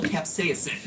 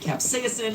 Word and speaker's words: capsaicin: about is the chemical capsaicin. And yes, I'm pronouncing it capsaicin because that's how Merriam-Webster told me to pronounce it, even though I have never once heard anyone in my life pronounce it that way.